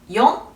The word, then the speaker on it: よん: 한자로 죽을 4자를 써 놓고 읽어보라고 하면 시라고 발음하거나 시보다는 용 쪽을 더 선호하는 편입니다 자 그리고 치를 읽을